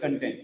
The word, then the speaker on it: content: It is not content. Sometimes most commonly we use this book has very good content. No, it is content. The content of this book is very nice. Content. The first syllable is stressed.